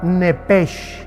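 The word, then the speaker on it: נֶפֶשׁ: ahí arriba de Alma la palabra nepes como suena nepes con s h como suena que es la palabra en el hebreo para alma desgraciadamente la nueva versión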